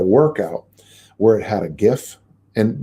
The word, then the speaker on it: GIF: where it had a gif and the right way to say the word is gif but i know the young people say jeff g i f um and